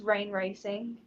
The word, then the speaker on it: Rayne: It's Rain Racing. Okay. You want to spell that for them?